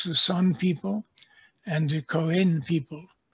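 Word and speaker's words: Khoe: San people and the Koen people. I understand that is now the correct pronunciation of the name that was used to be pronounced Koi.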